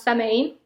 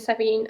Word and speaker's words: Samhain: Okay, anyway, so to me, Halloween and Samhain, because actually people would pronounce Samhain, but actually it's Samhain. It's an Irish word, and I lived for 4 years in Ireland, so I've learned a few stuff.